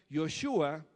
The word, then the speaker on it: Joshua: dada por jesucristo y josué que en hebreo se pronuncia joshua que significa el señor